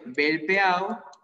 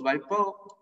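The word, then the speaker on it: Velpeau: Luego tenemos el cuadrilátero homotricipital, o también llamado muy frecuentemente cuadrilátero de Belpeau, o Balpeau, como se pronuncie, Belpeau.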